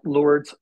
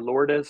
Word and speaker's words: Lourdes: And so ironically, there's a place in called Lourdes, France, or Lourdes, France, depending on how you want to pronounce it.